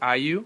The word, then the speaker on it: AOYUE: I think it's pronounced IU. It's spelled AOYUE 937 plus.